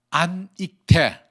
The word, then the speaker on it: 안익태: 아닉테 선생 이름은 본래 안익태, 익타이안, 일본말로 얘기하면 익타이안입니다. 그런데 이 익타이안, EAKTAI라는 발음이 일본 사람에게 너무 어렵습니다.